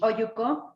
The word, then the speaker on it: olluco: Oyuko. Ayuko. Yeah. Oyuko. Yeah, Oyuko. Can you spell it for us? It's OLLUCO. Double L is pronounced with a Y, right?